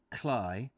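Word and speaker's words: Cley: read anyway beyond chroma from clay next the sea which norfolk men pronounce cly the level salt marches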